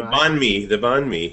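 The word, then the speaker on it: bánh mì: So the next thing that we had to eat was from Fid Resto, which is was the banh mi. Or am I pronouncing that wrong? The banh mi.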